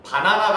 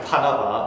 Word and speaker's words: 바나바: 바나나가 아닙니다. 바나나 말고 바나바. 제가 잘못 발음해가지고 예전에 큰 곤욕을 바나나 이래가지고 난리가 난 적이 있는데 바나바입니다.